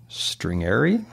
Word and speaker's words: stringere: The English word stress comes from the Latin word stringere. Paul, you study Latin. Tell us how you pronounce the word and what it means.